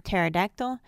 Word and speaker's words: pterodactyl: mnemonic or mnemonic and silent P in PT PS and PN as in pterodactyl psychology mnemonic now we'll